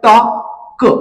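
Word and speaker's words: talk: पुढच एक्झाम्पल आहे टॉप तर तुम्ही पाहिल टॉक अशा प्रकारे याच वाचन करायच आहे आणि यातला जो एल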